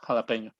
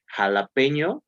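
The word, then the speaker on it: jalapeño: Poblano or Jalapeno?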